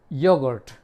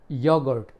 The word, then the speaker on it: yoghurt: एक और आखिरी वर्ड ले लेते हैं, वो है योगर्ट। YOGHURT, योगर्ट। योगर्ट माने दही। तो कुछ ऐसे वर्ड्स हैं ये जिनकी स्पेलिंग अलग है और प्रोनाउंसिएशन बिल्कुल डिफरेंट होता है।